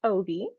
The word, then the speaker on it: Obey: So my name is Obey, pronounced Obi, and I write badass characters slaying dragons.